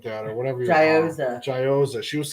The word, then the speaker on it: gyoza: not Euros.